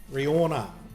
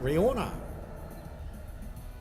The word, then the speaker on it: Rihanna: So Rihanna. Stinky? What? Rihanna. That's how you pronounce it. We've got to take the cue from the Americans. I mean, she's in America, so that's how you do it.